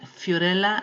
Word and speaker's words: Fiorella: are anyhow cleaning services calm my name is Fiorella and you can pronounce my name like Fiorella like cinderella right right now I'm showing you